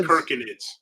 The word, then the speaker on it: Circinids: It's pronounced Herconids. Herconids. Yes, K instead of C. K. Instead of the C sound, it's the K sound. It's like the fake crab, right? Crab with a K, right?